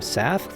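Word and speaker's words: Savfk: My background music is by a composer named Safk, that's spelled S-A-V-F-K.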